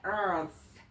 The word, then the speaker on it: Earth: 그다음에 땅은 Earth.이 발음을 좀 어려워하시는데 Earth 이렇게 트할 때도 혀를 딱 물고 혀를 물자리는 반드시 물어야 정확한 발음이 나오죠.